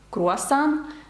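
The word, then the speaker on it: croissant: знати насправді слово бужу добрий день французькою теж наголос падає на останній склад Круасан теж на останній склад папє папір на останній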